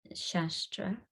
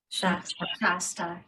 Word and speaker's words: Shasta: I guess there's like I can never pronounce it, Mount Shastra. Shasta, yes.